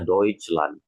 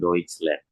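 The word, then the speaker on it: Deutschland: Padahal ini kan bahasa Jerman jadinya deutch lan bukan deutch land gitu ya.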